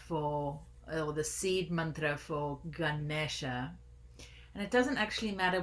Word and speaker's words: Ganesha: Ganesha let's practice that Ganesha Ganesha good good Ganesha the tongue curls back on the engine and